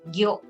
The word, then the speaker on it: 魚: And you pronounce it gyo.